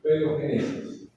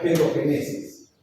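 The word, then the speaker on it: paedogénesis: Se llama paogenesis, se pronuncia pedogenesis, ¿no? Han escuchado ustedes el término pedófilo, ¿no es cierto? Y saben que se trata de de maltratar a los niños, ¿correcto? Entonces este proceso se llama, para no decir eso, vivo paesis. La A y la S se pronuncian con un solo golpe de voz, por eso digo pedo genes.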